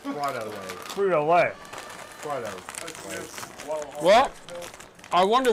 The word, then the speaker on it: Frito-Lay: It's pronounced Frito-Lay.